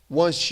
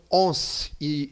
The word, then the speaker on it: once: ó uma vez que cuidado com a pronúncia disso aqui tá galera eu vejo muita gente falando on e on tem a ver com uma vez que tem a ver com um certo Ô caramba fe uma bagunça aqui então quando você pensa em um você pensa em One One viu meha pronúncia aqui por isso quando você fala Once Você fala one e não on beleza Once uma vez